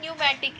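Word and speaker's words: pneumatic: अब उनमें क्या प्रेजेंट होता है, न्यूमैटिक, इसमें देखो पी आपका क्या है, साइलेंट है।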